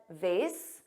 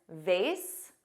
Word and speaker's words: vase: Now notice I said vase. Both pronunciations, vase, which rhymes with face, and vase, which has